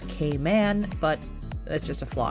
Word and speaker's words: Cayman: and little caiman and technically I should be pronouncing them as k-man but that's just a